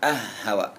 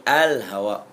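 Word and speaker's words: الهواء: yang ke-13 alhaw Ha Bukan ah Hawa tapi Al Hawa ya udara rabiasar alyadu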